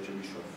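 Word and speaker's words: Чебышёв: La pronuncia corretta dovrebbe essere Chebyshov. Almeno, secondo mia moglie che è russa.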